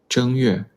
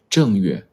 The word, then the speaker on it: 正月: Option A, 正月. Option B, 正月. Which one is correct? Which tone is the correct tone for the first character? Option A. The first character is pronounced with the first tone.